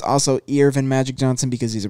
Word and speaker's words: Earvin: but the next one Irvin Magic Johnson which is spelled Earvin Magic Johnson I think